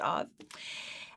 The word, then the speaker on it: Av: have to take my word for it it's pronounced of and it is um the word of or